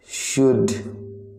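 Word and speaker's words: should: शुड, तो आपका शुड में जो साइलेंट लेटर है वो है एल। शुड को प्रोनाउंस करते समय एल का यूज नहीं करते हैं।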